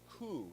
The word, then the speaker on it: coup: for a French term, coup d'etat, and we don't pronounce the P because it's French, right?